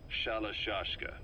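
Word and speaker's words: Shalashaska: Someone must have known about that, because somewhere along the line, Shashka got stuck on the end of Sharashka. The guerrillas were using the name amongst themselves, and by the time I got to hearing about it, pronunciation had wound up as Shalashashka. So, half Gulag, half Hero Sword.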